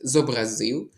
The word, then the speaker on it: зобразив: І подібні до них твори, у яких поет зобразив. Запам'ятайте: "Зобразити, зобразити. Зобразив". А отже, тут правильний наголос.